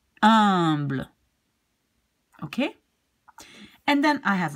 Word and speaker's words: humble: And this one you pronounce, you don't pronounce the H, so you will just pronounce humble.